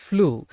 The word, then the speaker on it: flew: சரி, வி ஃப்ளூ. சரி, இப்ப கவனிங்க. FLY ஃப்ளை, இதோட பாஸ்ட் தான் FLEW, ஃப்ளூ. சரிங்களா? ஃப்ளூ அப்படின்னு தான் உச்சரிக்கணும். வி ஃப்ளூ அப்படின்னா நாங்கள் பறந்து சென்றோம்.